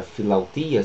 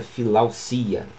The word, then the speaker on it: philautia: Muito bem, veja que em latim a palavra philautia significava, philausia significava exatamente amor próprio. Apesar de que essa palavra vem do grego philautia, foi para o latim e pronunciada philausia, ou agora no português philausia.